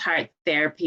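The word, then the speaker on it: Hart Therapy: like you said heart it's pronounced heart therapy but it's spelled h-a-r-t therapy and what we do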